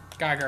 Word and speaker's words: Geiger: Geiger rhymes with tiger.